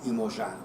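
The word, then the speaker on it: Iemanjá: movie woman on top I can only pronounce yamaya's name the Brazilian Portuguese way imojan there is a chapter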